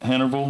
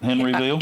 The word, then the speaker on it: Hennerville: Hennerville, not Henryville.